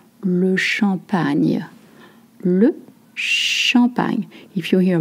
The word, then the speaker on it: champagne: Et maintenant, le champagne. Not champ, champ, champ. Not che, champagne. With the new sound like an onion. Le champagne.